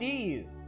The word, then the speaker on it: Ys: game yep yep wanderers from ease pronounced ease or in his third